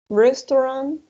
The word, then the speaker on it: restaurant: Restaurant, right? Remember the combination of AU is gonna sound like O, restaurant, sports center, market, police station.